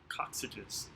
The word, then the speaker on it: coccyges: they're going to have shorter coccyges it's the plural for coccyx good trivia question if you need something that rhymes with sausages uh coccygeus is yours